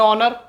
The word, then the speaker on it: honour: HONOUR, English में ऑनर, Hindi में ऑनर यानी मान सम्मान इज्जत। अब हम आते हैं फ्रेंड्स के साइलेंट पे।